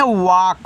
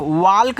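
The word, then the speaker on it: walk: देखो इसको पढ़ते हैं वाक। वाल्क नहीं पढ़ना है। वाक पढ़ना है। यानी कि इस तरीके से वाक।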